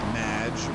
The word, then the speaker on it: Madge: Matt, welcome to the show! Thanks, Amy. However, you have mispronounced my name. It's Madge, which rhymes with badge, as in duh, and no as in more than you.